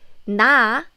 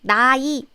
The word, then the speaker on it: 나의: Okay, then how can I pronounce this? It's 나의. So it's in the middle of the syllable, right? Middle of the syllable. So I need to pronounce it like 나이, right? I'm sorry, but nope. This 의 is different. Here, this 의사, 희망, 강의 is just part of the word. It's just one syllable of the word. But 의 here is a particle. You know the possessive particle 의?